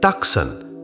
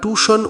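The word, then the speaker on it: Tucson: অনেকে বলে টাকসান আসলে ওটা টুশন উচ্চারণ হবে আরিজোনা স্টেটে।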